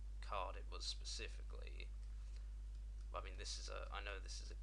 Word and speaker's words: ME: Which 9X includes 95, 98, and ME, or me, as I like to call it. Well, that's how it's stylized. That's how it should be pronounced.